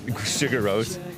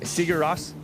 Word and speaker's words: Sigur Rós: a Christian band, then Sugar Rose. Is that how you pronounce it? Sigur Rós? I pronounce it Sugar Rose, but Sigur Rós?